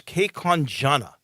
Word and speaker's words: Kaewkanjana: And then you have a young man from Taiwan whose name is Saddam, and I'm not sure I'm saying this right, but it's Kekonjana, I believe. It's spelled Kaewkanjana.